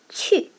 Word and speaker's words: 去: Pay attention to the tone. The fourth tone here, let's see how to write it.